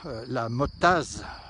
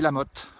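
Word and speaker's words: La Mottaz: on ne dit pas la mottase, ça s'écrit la mottase, on dit la motte, voilà.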